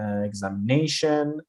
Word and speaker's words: examination: tell you is that the stress is always on the syllable before the suffix. So what are these suffixes? Like for example examination we have shen t io n which is your suffix. The stress comes before this or possibility again litty